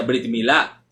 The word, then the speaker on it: brit milá: hebreo como brit milá es así como se pronuncia brit milá aunque también podría decir perito mila ya que